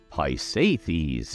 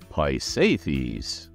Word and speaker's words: Pisaethces: Boyd a female deity so it's a she hi safies is how you pronounce this tongue twister of a name though